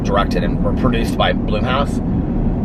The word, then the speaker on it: Blumhouse: and were produced by bloomhouse it looks like blumhouse but i think it's pronounced bloomhouse and so i was